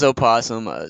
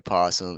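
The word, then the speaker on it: opossum: it aasum it is aasum some some say the O is silent so you can just say posum it's say it correctly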